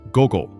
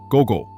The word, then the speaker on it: ごご: The word for PM is gogo. My turn. Gogo. Now you say it. Gogo.